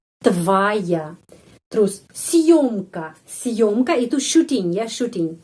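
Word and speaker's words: съёмка: Съемка, съемка, съемка, съемка. Съемка penekanan pada huruf yo.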